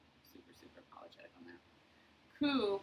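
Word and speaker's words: Ko: Ku, but then it's pronounced ku, like K-U, is representational of, it's a noun that means light.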